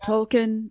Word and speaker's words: Tolkien: part of the reason I joined too, is I just wanted to be around other people who love Tolkien as much as I did.